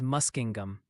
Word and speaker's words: Muskingum: And Ryan, the Ohio Pronunciation Academy called, Gnadenhutten is Jew-Naten-Hutton, New Concord is New Concord, Muskingum is Muskingum.